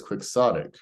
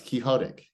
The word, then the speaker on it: quixotic: that it's a quick the pronunciation here is quixotic listen quick soft tick yeah that dude it's Don Quixote it's quixotic right um but on the